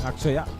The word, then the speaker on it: Akshaya: So Akshaya actually is what the name is, Akshaya. And it is written as A-T-C-H, Akshaya. That's how it is written in Tamil, where there's no sure pronunciation. So that's why they write it as like that. But in English, when they write it, it is written in the same way how it is pronounced in Tamil.